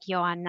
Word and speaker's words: Johanna: It's spelled like Joanna, but it is pronounced like Joanna.